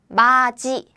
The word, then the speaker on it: 맞이: And the third one is 맞이, 맞이. So now you know the meaning and this pronunciation, so please choose the right one. Please choose the right one. Hint. This one is about the palatalization.